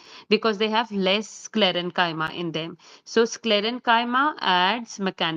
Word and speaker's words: sclerenchyma: So these are pronounced as parenchyma, collenchyma, sclerenchyma, and they come under the category of simple permanent tissue.